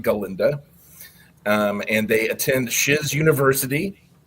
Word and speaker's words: Galinda: And in the movie, or in the Broadway show, it's pronounced Galinda.